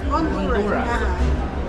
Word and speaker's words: Honduras: How do you On the pronounce it? south Honduras? Honduras.